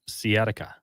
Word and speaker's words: sciatica: We got a text saying how to pronounce sciatica.